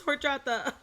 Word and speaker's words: horchata: love that and then my mom did the white person thing where she was like horus chatter and i'm like no mom it's horchata like i said or uh